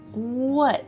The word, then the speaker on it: what: And you can practice the pronunciation of what what. It's not what. It's what what. There's barely a t at the end.